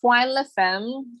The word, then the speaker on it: Foi La Femme: and their experiences, it's Foi La Femme. It's a French name because I'm from a French Caribbean island.